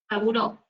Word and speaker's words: Sabouraud: Sabouraud, así nosotros lo llamamos, Sabouraud, pero se escribe Sabouraud.